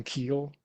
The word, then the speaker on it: Keel: Yeah, I think we have arrived on Keel as our pronunciation.